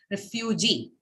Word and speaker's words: refugee: stress on it so the example refugee three syllable word refu g and the stress falls on the last syllable g because uh your word